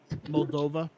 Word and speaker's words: Moldova: catch it come on how you say it Moldova yeah what happens in Moldova the right thing